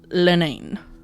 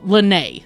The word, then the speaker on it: Lynnae: My lady is Lady Adelaide Lenane. Say that last name again? Lenane. Lenane? Oh, Lenay. Sorry. Lenay. No N at the end.